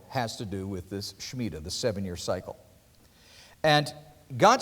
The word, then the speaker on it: Shemitah: The Shemitah, which is spelled S-H-E-M-I-T-A-H.